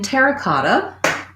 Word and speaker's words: terra cotta: pottery um so in terra cotta i would say as a phrase overall our main stress is going to be on the cot terra cotta terracotta within the word terra